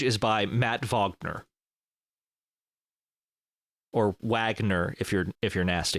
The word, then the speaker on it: Wagner: interview with him and they introduced him as Matt vogner but I'm pretty sure he pronounces his name Matt Wagner so I don't know